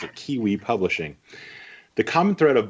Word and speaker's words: KWE: She likes to pronounce it Kiwi Publishing.